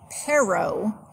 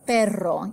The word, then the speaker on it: perro: And really, as long as you aren't saying pero, it's going to be an improvement, even if you're not quite being able to say perro yet. But just keep working on it. But that is the pronunciation for the Spanish R's.